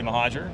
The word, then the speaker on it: Mohajir: and I am joined Now by ucfad Terry mahaja appreciate you taking the time to not only